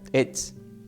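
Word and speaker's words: עץ: tiene un acento en la e, pero es e, la t y la z, ets.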